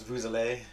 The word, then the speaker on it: vous: you have the s usually you don't pronounce the yes and vu it's just a vu but with uh a vowel it's vous um and yeah i'm